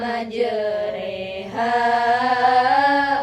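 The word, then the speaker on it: مجراها: Surah hud ayat satu dibaca majereha bukan majeroha kedua itu sakta Berhenti sejenak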